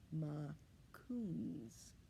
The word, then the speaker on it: Makoons: a little bear cub you say mccoons like this ma coons do you want to